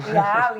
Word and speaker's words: Eyal: Catherine Price, by Nir Eyal, I always get his name wrong. Eyal, yeah, there's loads of books out there.